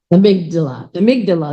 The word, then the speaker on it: amygdala: And then we have your, I'm gonna say it wrong, amygdala, that's how you say it.